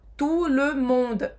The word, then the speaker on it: tout le monde: E praticamente todas as palavras em francês que terminam com a letra E, sabe, com a letra E, a gente não vai pronunciar. Então, tout le monde, devagar.